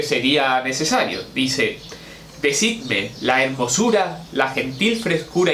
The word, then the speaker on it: hermosura: No, pero es que se decía decidme la hermosura. Nos suena raro, pero era así y no se producía la sinalefa, ¿vale?